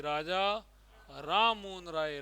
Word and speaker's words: राममोहन राय: राजा राम है ना यह राजा तो उपाधि और राम मोहन तो भाई इसका उच्चारण क्या करोगे ऐसे बोलना चाहिए राजा राम मोहन राय राजा राम मोहन राय किसने किया राजा राम